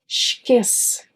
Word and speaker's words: esquece: Another thing you might have noticed was that you pronounce the CE combination as che instead of s. Esquece.